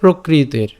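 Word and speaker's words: প্রকৃতের্: এর উচ্চারণটা কেমন হচ্ছে প্রকৃতের প্রকৃতের এই যে এখানে যে রেফটা আছে এর রেফটা আমরা তকারের সাথে উচ্চারিত করে ফেললাম তাই উচ্চারণটা কেমন হচ্ছে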